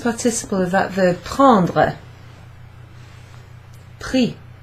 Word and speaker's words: pris: So, yes, it does sound like the word for price, but the word for price has an X at the end instead of an S. So it's pronounced exactly the same.